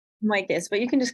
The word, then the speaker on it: Michos: Can you tell me how you pronounce your name? I'm sorry, I think I've been saying it wrong. Michos, but you can just call me.